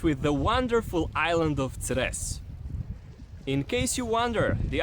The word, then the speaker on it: Cres: We'll start with the wonderful island of Cres. In case you wonder, the island of what? Let me help you with pronunciation by giving you the island's motto, which says "No stress on Cres."